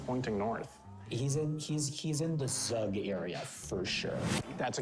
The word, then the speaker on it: Zug: Rug. So that rhymes with Zug, which we know.